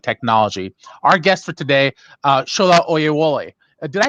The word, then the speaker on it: Shola Oyewole: Our guest for today, Shola Oyewole. Did I pronounce that right?